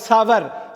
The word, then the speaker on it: sour: SOUR சோறுன்னு சொல்லுவீங்க. சோறுன்னு கிடையாது. SOURனா சவர்.